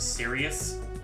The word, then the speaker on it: Sirius: It's pronounced Sirius.